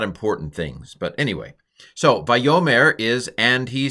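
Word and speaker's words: וַיֹּאמֶר: The fact that this is a short vowel, a sagol, a short vowel in a final syllable is a hint that the accent's not on that syllable, because usually when a syllable's accented, it's long.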